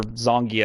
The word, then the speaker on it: Zangief: like she's all about or zonkey if i think is how you're supposed to pronounce it i still say zangief cuz that's why everybody said it in the 90s but yeah